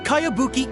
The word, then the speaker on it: Kayabuki: a really strange name who's this cowabunga it's pronounced kayabuki ek that would be me outlander brigade is